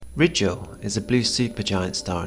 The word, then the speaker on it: Rigel: First things first, I've always pronounced the blue star RIGEL, but you wouldn't be wrong if you pronounced it RIGEL. In the north of England we tend to use a sharper I sound than in the south or in the States, much like the country of Iran, or Iran as they say in the States.